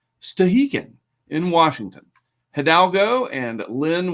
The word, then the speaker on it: Stehekin: But this other place up here in Washington, how do you pronounce it? Well, I'm glad you asked. Stehekin.